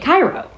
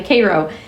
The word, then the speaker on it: Cairo: But she was razzing Ryan because he was pronouncing it Cairo. And it's actually Cairo.